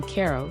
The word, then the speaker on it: quero: The K in quero sounds like the K in kid, and the R has a soft trill, like in the word Bianca.